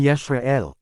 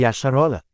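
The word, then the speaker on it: ישראל: Ang lamid ang katumbas ng letter L. Naging L ang bigkas nito dahil sa OLF na pwede maging vaol E ang tunog. Kaya naging Yesrael. Ang sabi ng lash aan quadesh ay mali daw ito at ang tama daw na bigkas ay Yasharola. Ang ginawa nila ay nilagyan ng vowel a ang bawat letre kaya naging yasharala.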